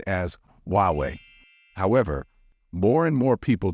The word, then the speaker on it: Huawei: say this one as H away however English natives don't say it this way in English the H becomes silent so it should be pronounced as huwei however more and more